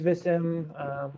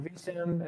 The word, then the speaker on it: Vissim: maybe it's you know, what is Vissim, or Vissim as people pronounce it, one way or the other, or you see it